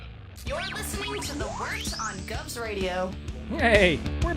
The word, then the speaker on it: Wort: The wort? Yeah, okay, I'll do that again. This is the Wort on Govs Radio. It is the Wort. Not warts, not forts, not short.